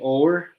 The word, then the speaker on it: hour: This word normally we say hour, but it's hour.